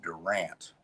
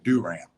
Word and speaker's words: Durant: of the record that oklahoma presbyterian college of durant which just out well i said it wrong didn't i do ram uh here in oklahoma that's how you pronounce